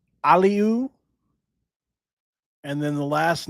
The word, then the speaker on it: Aliou: So, this kid's name is pronounced Aliu, Aliu, and then the last name is pronounced Joom. So, Aliu Joom, right?